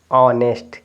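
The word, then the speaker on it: honest: silent हो जाएगा तो क्या पढ़ेंगे देखिए इसको ऑनेस्ट क्या पढ़ेंगे ऑनेस्ट ए लेटर साइलेंट हो जाएगा तो इसको क्या पढ़ेंगे ऑनर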